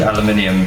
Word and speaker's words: aluminium: aluminium profile profile yes we pronounced it aluminium here in South Africa that is also how we spell it um same as the